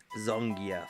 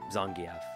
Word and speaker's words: Zangief: And he was like, "Well, you know, actually, if you were to pronounce it like in the way that like Russian uses phonology, it would be like Zangief or Zangief or something."